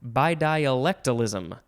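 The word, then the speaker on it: bidialectalism: by di oh i said it right before by dialectalism by diolectalism b i d i a l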